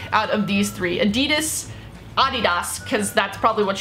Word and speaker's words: Adidas: Adidas, I'm just gonna say it correctly because I know we say it wrong. We say Adidas in the America, United States of America.